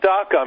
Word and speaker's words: DACA: But by the way, everyone knows what DACA means, maybe because it rhymes with caca, okay?